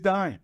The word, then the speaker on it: Duyne: And, it is Duyne.